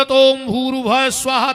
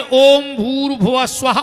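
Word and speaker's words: ॐ भूर्भुवः स्वः: के बताओ अपन बोला ओम भूर्वा स्वाहा तस वितुर्वेन्य इसमें एक शब्द कम पड़ रहा है। गायत्री का सही उच्चारण है ओम भूर भुव स्वाहा ओम पर ओम कोई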